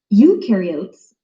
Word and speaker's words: eukaryotes: mitochondria and golgi apparatus eukaryotes the u rhymes with do they do have membrane-bound